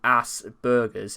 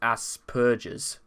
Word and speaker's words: Asperger: he's pronouncing as well it's not pronounced ass burgers it's pronounced as purges yeah and again he